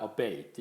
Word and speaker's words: abate: 일때는 약해지다 뜻이 있습니다 이음의 액센트가 있으니까 obate 이렇게 발음하면 되겠습니다 그다음에 abbreviate abbreviate 아는